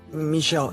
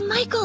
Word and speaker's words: Michael: in reading some of Michelle Andy's books sound good first off it's Michael Andy not Michelle you really haven't read